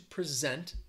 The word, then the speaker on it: present: this uh slowly so which syllable is stressed it's a two-syllable word is it the first syllable or the second syllable he's going to present